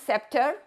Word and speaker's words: scepter: As you can see, the way I pronounce scepter, I don't pronounce the C sound.